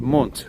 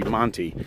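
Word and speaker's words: Monte: The name of this little village here that I'm walking in now is called Mont. Um or in English it would be Monty. M O N T E.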